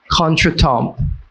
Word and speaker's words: contretemps: Contretemps.